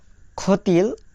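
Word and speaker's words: хотел: প্রথম অক্ষর খ, তারপরে অ, খ, তারপরে দেখা যাচ্ছে টে, তে, ই, এল, তেল, খ তেল।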